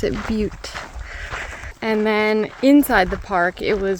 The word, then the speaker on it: Butte: They pronounce it Butte.